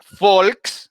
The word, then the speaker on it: Volk: la parte inferior entonces la uve ellos la pronuncian como si fuera una efe para nosotros por eso es folk que significa del pueblo